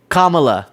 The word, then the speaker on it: Kamala: Kamala is the pronunciation, thank you.